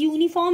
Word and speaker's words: uniform: The in words such as uniform, university, the letter is U. Pronounced as U, Y-U.